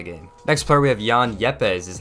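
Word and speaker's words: Juan Yepez: for winning the game next player we have Jan yepez is how you pronounce his name he was pinch hit and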